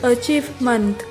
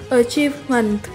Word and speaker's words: achievement: Từ số 6 là danh từ achievement hoặc achievement. Âm tờ do cuối có thể được bỏ nha. Mình xin đọc lại từ này là achievement hoặc achievement.